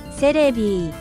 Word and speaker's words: Celebi: Its Japanese name is the same as its English one. They just say it like this. Celebi.